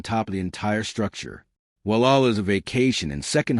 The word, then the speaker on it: Gualala: the winding two-lane highway, in a community most people mispronounce when they first encounter in print. It is Gualala, said "Walla."